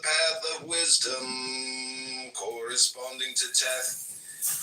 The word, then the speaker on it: Teth: of wisdom, corresponding to Teth, pronounced Taith, transcribed as T, the number 9, meaning serpent.